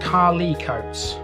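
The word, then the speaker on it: Carlecotes: would make sense actually now carla coates is pronounced carly coates as in um c-a-r-l-y-c-o-t-e-s it's pronounced like that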